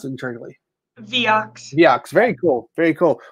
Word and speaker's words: Viox: Is it Viox or Vox? How do you pronounce it internally? Viox.